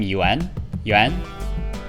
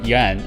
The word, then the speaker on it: Yuan: Did you know actually the last name Yuan? Well, it's supposed to be pronounced in one syllable. I've intentionally pronounced it wrong, and now I lack the ability to actually pronounce it correctly.